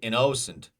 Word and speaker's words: innocent: option uh let's check innocent I innocent we don't say innocent we don't say innocent that's innocent first syllable uh so impatient pay